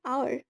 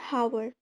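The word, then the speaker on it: hour: फिर एन आवर यहां पर आवर sound होता है नॉट हावर।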